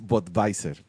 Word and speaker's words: Budweiser: Lo que pasa es que no se pronuncia así, porque se pronuncia en alemán, que es Budweiser.